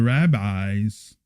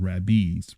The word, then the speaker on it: rabbis: finally some of the rabbis I think it's rabis I think it's Rabbi I think it's rabes okay correct me if I'm wrong but I think it's pronounced rabes we say rabbis but